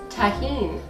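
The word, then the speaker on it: Tajín: really enjoy this on fruit how do you pronounce this tahen okay and what is tahen it is chili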